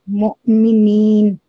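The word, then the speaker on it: مؤمنين: We will pronounce it like mu'minin. We will prolong for 2 seconds.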